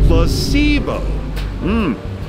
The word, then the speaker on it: placebo: Placebo. The stress is on the middle syllable.